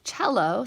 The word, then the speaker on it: cello: gives you some notes cello c l l o is an Italian word and begins with the CH sound ared is the past